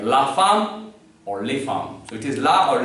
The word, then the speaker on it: femmes: though it is feminine, and femme you have added s, but you won't pronounce it, so it is les femmes.